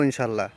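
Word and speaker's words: إن شاء الله: আজহাবু ইলাল বাইত ইনশাআল্লাহ আজহাবু না বলে আজহাব ইলাল বাইত ইনশাল্লাহ বললেও হয়ে গেল মানে শব্দটা বুঝা গেলেই হলো তো আরবি উচ্চারণ করার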